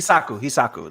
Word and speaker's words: Hishaku: Hisaku. The Hisaku. Hishaku, yeah.